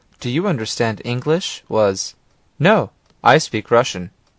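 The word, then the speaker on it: но: English listen no no the word but or no is similar to the English word no but it has a nasal sound at the end listen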